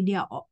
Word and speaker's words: the: dan learning out Comes jadi ingat kalau ini dia huruf kalau Hurufnya huruf vokal kita bacanya Do ini bukan the tapi di effect ya Nah di effect